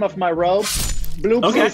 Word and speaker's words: Bloopsy: Okay, Bloopsy is the name of my robe. Bloopsy is spelled with two zeros, not O's, and there's not an E.